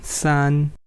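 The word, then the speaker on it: 三: Similarly, 3 is represented as 3 horizontal lines, and it is pronounced as San. It is again first tone. You don't have to emphasize a lot. San is very normal. San. Then 4 is fourth tone.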